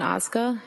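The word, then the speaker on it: Ozga: Tell us your name, please, and spell it. It's Osca.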